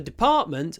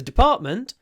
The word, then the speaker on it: department: um uh the so for example the department the the the the department there's no stress on the first syllable so I say the